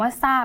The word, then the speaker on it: ทราบ: เปลี่ยน ไป เลย ค่ะ จาก ทร นะ คะ ตัว นี้ นะ คะ ที่ เป็น พยัญชนะ ต้น กลาย เป็น เสียง ซ โซ่ หรือ อีก แบบ นึง